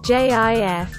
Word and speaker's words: GIF: picture of a plane gif pronounced as jif is among the most